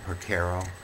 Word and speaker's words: Porcaro: this year this time it's Mike Porcaro from the soft rock group Toto those last he may also be pronounced Portero so if I mispronounce it my analogies sadly